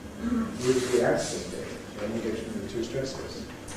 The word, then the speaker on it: enthusiastically: These are double stress words. Unexpectedly, we showed in the dictionary, two stresses. Enthusiastically, in the dictionary, two stresses.